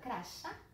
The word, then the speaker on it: crachá: razão que a palavra crachá? É claro que não. Crachá recebe acento porque a sílaba forte de crachá é a última, então ela é uma oxítona terminada em A.